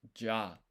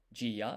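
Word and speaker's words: ジャ: Basically when this yah you or yo is smaller than the preceding katakana or hiragana character it's going to form a blended syllable one sound. So this is g this is ya. So this is ja together not g ya is j.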